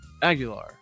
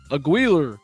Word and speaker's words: Aguilar: was like how do you say your name I was like Aguilar he was like Aguilar I was like yes sir and he's like all right he wrote it out just a pronunciation like that and then the next day in front of like the thousands of people and graduating in front of the Dome he's like aguiler and I was like